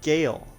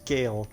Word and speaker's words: Sgàil: to the isles of gayle yes the s is silent that is gail to eliminate sisters zoey